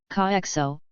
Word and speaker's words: Cadejo: The Cadejo, Spanish pronunciation, Caexo, is a supernatural spirit